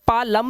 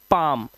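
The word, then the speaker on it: palm: अब इसे पा लम नहीं पढ़ते क्योंकि एम से पहले आया एल साइलेंट होता है। तो इसे पढ़ते हैं पाम।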